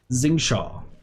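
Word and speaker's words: Xingqiu: Zingshaw. Motherfucking Zingshaw. First off, how does QIA mean Shaw?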